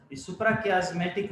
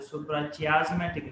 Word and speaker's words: suprachiasmatic: सुप्राकियास्मेटिक nucleus सुन लें, what सुप्राकियास्मेटिक, above कियास्मा nucleus is present known as सुप्राकियास्मेटिक, sometime pronounced as सुप्राचियास्मेटिक nucleus of the hypothalamus contain